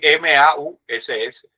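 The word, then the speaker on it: Mauss: de quien fue sobrino de Durkain, que era Marcel Ma o Marcel M es m a U ss, pronúncienlo como ustedes quieran.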